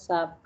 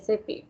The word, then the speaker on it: SAP: like uh sorry shab please don't pronounce as sap it's sap okay sap yeah okay fine